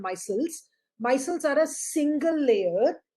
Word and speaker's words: micelles: cells are right here the the thing that you're calling as missile i i'm just using a slightly different way of pronunciation it's called micelles micelles are a single